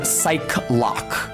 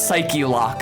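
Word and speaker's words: Psyche-Lock: Quine I misread this as psych loock when I was in Middle School like a bike lock I thought it was a pun um it's psyche lock though cuz that's how that word is pronounced in English so if at any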